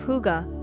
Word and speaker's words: hygge: Embrace the Scandinavian concept of hygge, pronounced hygge, to cultivate coziness and comfort in your Japandi home.